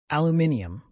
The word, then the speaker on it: aluminium: What chemical element has an extra syllable in its more correct British pronunciation? Aluminium.